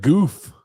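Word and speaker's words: Goff: Jarrell said, TJ, say it right. It's Jared Goof. Jared Goof.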